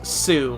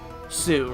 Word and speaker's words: Hsu: that's Sue. I think that's how you say it. HSU. I think that's how you say it. Or Sue or something like that. Because I think the H is silent.